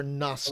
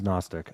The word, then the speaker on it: Gnostic: The G is silent for Gnostic. Oh, it is. It is Gnostic.